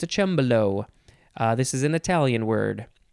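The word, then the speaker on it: cembalo: next is it is spelled c-e-m-b-a-l-o it is pronounced chambolo below noun from uh circa 1801 the synonym is just harpsichord it's sort of like a piano it's a chambello this is an italian word next and last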